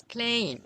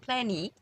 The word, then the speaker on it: plain: It's plain, not plan. It's plain. So E, not plany, but it's plain. So E is silent here, but it's helping other vowel A to sound longer.